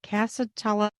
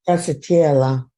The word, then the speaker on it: Stracciatella: Casatella. And what is that? Is it Casatella or Casa? Stracciatella.